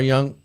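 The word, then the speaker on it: Jung: guys know who Carl Young is Carl Young what is it J yeah young yeah young young J it's spelled j g right uh he was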